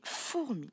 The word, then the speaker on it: fourmi: Donc, des fourmis. Nous l'avons vu tout à l'heure, ce mot-là, fourmi. Attention, on ne dit pas fourmi. On dit bien four, première syllabe, mi.